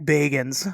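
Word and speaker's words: Bagans: I learned how to say his name. Baggin. Um, everybody says Baggins. It's fine.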